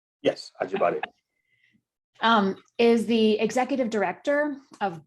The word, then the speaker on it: Ajibade: David Ajibade is did I say it right? Yes, Ajibade.